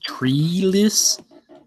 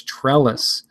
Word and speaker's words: Trellis: Like someone pronouncing my name as Treeless. Treeless. I'm like, that's not how you pronounce it. It's pronounced pretty much how it sounds. Trellis. T-R-E-L-I-S. Not T-R-E-E-L-E-S.